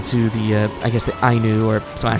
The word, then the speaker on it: Ainu: Who taught the Ainu people how to hunt, fish, wave, and fell trees. Yeah. Also, I screwed up. It's not Onu, it's Ainu. That's how you pronounce it for that.